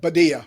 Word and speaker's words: Badia: So, did I pronounce that right? Badia.